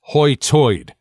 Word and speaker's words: high tide: a good example though it's pronounced Hoy toid like the center sound as a British pay attention oi instead of a hard hard eye so litter to loer